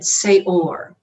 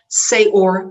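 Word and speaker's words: שְׂאֹר: Okay, it sounds and is pronounced exactly the same, get this out of the way, exactly the same as the word for leaven, seor.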